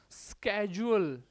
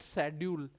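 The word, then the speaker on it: schedule: ये शेड्यूल word नहीं है, शेड्यूल नहीं बोलते इसको, स्केजुअल, ये वर्ड है स्केजुअल, स्केजुअल नॉट शेड्यूल। शेड्यूल शेड्यूल कुछ नहीं है, स्केजुअल आगे का।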